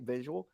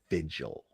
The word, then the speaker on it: vigil: absolutely not true yeah there he says it again visual it's vigil vigil it's two syllables okay dolly dolly is two syllables so in the interest of timing okay pay attention dolly dolly vigil dolly vigil okay all right now visual is different visual is three syllables visual okay okay i